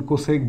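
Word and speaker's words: cosec: beta কোসেক beta মানে কি দেখো কোসেক বিটা উচ্চারণ কোসেক বিটা এটা আলফা এটা বিটা এই কোসেক বিটা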